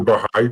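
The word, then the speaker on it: Bahá'í: a Aiden gor got it um did I pronounce the the faith right too I wasn't sure on it's the bigh faith bigh faith okay we yeah I definitely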